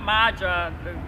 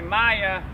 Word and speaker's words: Maja: So, next time I see her, I'll say Maya instead of Maja. So, Maja, the J is pronounced Y.